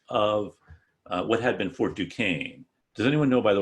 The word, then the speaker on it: Duquesne: So if it's called Duquesne, we don't like it because it's French, and plus we'll want to pronounce the ESQ.